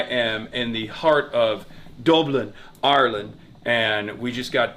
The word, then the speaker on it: Dublin: And I like the way you say Dublin. That's the way it's pronounced.